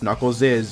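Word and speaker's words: Knuckles': characters revived from 1995's knuckles is chaotix yes it's pronounced knuckles is even though it's just an s apostrophe i don't know what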